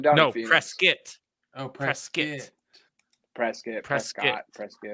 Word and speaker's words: Prescott: no press skit oh press kit press get prescott it's it's it's spelled prescott but people it is 100 spell it's prescott but if you say prescott people don't think you're from arizona so yeah which i'm not